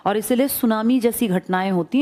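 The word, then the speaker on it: tsunami: कर रहा हूं ना सुनामी जापानी भाषा का शब्द है जिसमें टी साइलेंट लिखते हैं ऐसे बोलते हैं। लिखते हैं टी सुनामी बोलते हैं सुनामी।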